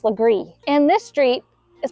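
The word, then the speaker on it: Legare: you might think like this one for example pronounced lree and this street is pronounced Yuji this street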